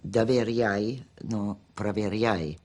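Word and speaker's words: Доверяй, но проверяй: And I said, here it is, and it was Doveryai, no Proveryai. Mr. General Secretary, though my pronunciation may give you difficulty, the maxim is Doveryai, no Proveryai.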